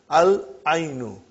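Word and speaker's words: العين: Al-ainu. The eye. We pronounce lam.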